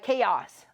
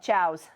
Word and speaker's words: chaos: It's chaos. I used to call it chows because it looks like it's spelled like chows, right? So he's like, oh, it's chaos.